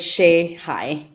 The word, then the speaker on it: Shehaj: My last name is pronounced as Shihai.